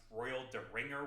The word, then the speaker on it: Royal Derringer: DL Cypher, that's a cool name, on the Dave video says, I'm pretty sure it's supposed to be pronounced Royal Deringer with a hard G, as in instrument for removing royal fingers.